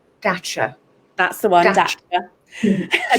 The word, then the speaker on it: Dacia: set for a TV advert for I can't pronounce the name of the car brand. It starts with D. Dacia.